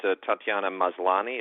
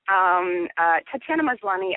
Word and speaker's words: Tatiana Maslany: Talking about cast, talk a little bit about Tatiana Maslany. Is that how we correctly pronounce her name? It's perfect. Tatiana Maslany, probably most of you would know from Orphan